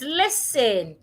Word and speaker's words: listen: of people do is they change the s to a z and they say listen. The s should not be pronounced as a z. The s remains a s. The t becomes silent. Listen.